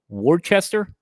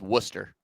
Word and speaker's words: Worcester: Let's go to this town in Massachusetts that is called Wartchester. I see I knew you would say it wrong. It's Worcester.